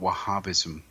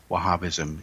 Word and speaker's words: Wahhabi: And we're talking about Wahhabism, and Wahhabism is another way of saying it. It is spelled W-A-H-H-A-B-I, Wahhabi.